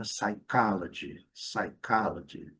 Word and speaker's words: psychology: Mesma coisa, na mesma toada, psychology, letra P não pronunciada, segunda sílaba é a sílaba forte, e aqui, interessante, o G nós vamos colocar um D imaginário, G. Nós falamos psicologia, G, e eles falam G, psychology, sabe?